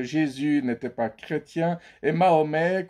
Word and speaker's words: Mahomet: n'était pas chrétien et Mahomet qu'on prononce Mohammad chez les musulmans n'était pas musulman alors